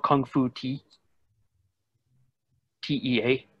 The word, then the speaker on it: Tea: TEA, not like the Okinawa pronunciation of Tay, Kung Fu Tea, has dated this to the late 1800s Chinese rudimentary military training.